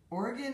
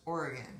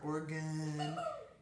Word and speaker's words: Oregon: And for those of you that don't live on the West Coast or even the Midwest, Oregon is pronounced Oregon, not Oregon or Oregon.